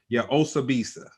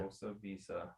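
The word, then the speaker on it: Osibisa: But yeah, Osabisa. And it's spelled the way that it sounds. Yeah. Osabisa.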